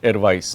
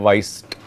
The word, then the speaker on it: weiß: Ich weiß, weiß, not weißt. There is no T at the end. Okay, weiß.